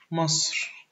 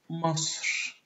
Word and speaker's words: مصر: Most of the names of countries in Egyptian Arabic are pronounced almost the same as they are in English, except for Egypt, because Egypt in English is a word of pharaonic origin.